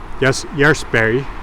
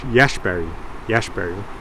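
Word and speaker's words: Järsberg: It is from Jarlsberg, Jarlsberg, I should say, to pronounce it more Swedish. Now hold on, if I want to be really Swedish, Jarlsberg.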